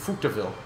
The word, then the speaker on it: Coupe de Ville: called it's pronounced dead oh but it again Coupe de Ville but it is spelled de Ville like